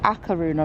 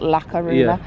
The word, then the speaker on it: A Coruña: and it's the so you actually call it akar Runa not Laruna it's €20 each 2